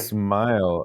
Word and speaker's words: Smael: were Munden, and because his first name is spelled Smael, and so I wasn't sure if it was Smale or Smile, and I had heard people say it both ways. And we can Smile. It's smile, right? Because it was rhymes with smile. correct. Or as Tim Riley says, it's a synonym with smile.